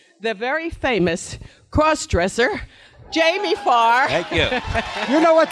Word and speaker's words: Farr: but I also tell everybody, please, Loretta, the T is silent in Farr.